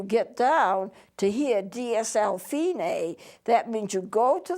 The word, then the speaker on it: Fine: it says F I and II but it's pronounced fein a not fine dsl fini means you go back to the